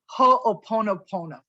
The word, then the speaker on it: ho'oponopono: ancient hawaiian practice of ho'oponopono it took me a while to even pronounce it it's ho oponopono it's a practice of